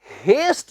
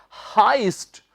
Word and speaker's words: heist: याद रखें स्टूडेंट्स, इसे आपने हेस्ट नहीं कहना। देखने में लगता है HEI से आपको शायद लगे कि ये होगा हेस्ट, पर इसका सही उच्चारण क्या है? हाइस्ट।